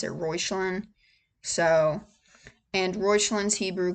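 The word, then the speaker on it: Reuchlin: The internet says it's a German name. It's Rochelin. Um that you pronounce it Royelin.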